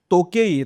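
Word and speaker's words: 時計: तर त्याच्यावरून ते टो आहे की तो आहे हे नाही कळत. तर तो आहे तो.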